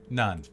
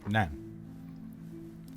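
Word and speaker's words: naan: pass the bread please none it's pronounced nan pass the non then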